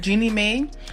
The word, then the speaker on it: Jeannie Mai: That's how you say it, Jeannie Mai.